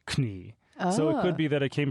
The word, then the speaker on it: Knie: Like the word knee, for example, in German, it's knie.